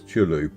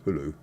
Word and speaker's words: Choulou: used to call this Choulou because it's spelt Choulou, until somebody pointed out that CH in those instances is silent in the pronunciation. So now I know it's Choulou.